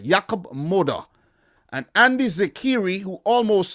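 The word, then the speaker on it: Jakub Moder: I should say it right, Jakub Moda.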